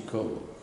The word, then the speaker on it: Koło: Przyciąłem go na pół i używam tylko przedniej części Koło. Mam prawie jak Coca-Cola, każdy może wymówić moje nazwisko.